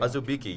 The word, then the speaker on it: Azubike: All right, we have, let me see, Udoka Azubike, is that how you pronounce it? Yeah. Azubike, yeah.